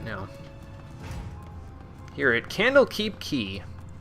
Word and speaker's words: Quay: now here it candlekeep key yes I know it's spelled like Quay but that's not how you pronounce it so not not that